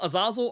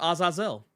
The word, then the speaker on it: Azazel: Yeah, you can say Azazel, Azazel, or Azazel. No.